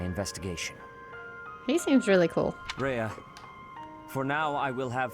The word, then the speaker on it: Rhea: There's Lady Reyes. Or Rhea, excuse me. I keep pronouncing her name wrong.